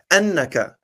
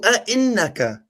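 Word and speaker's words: أَإِنَّكَ: You said "Annakah." It's "A-innakah." "Qalu a-innakah."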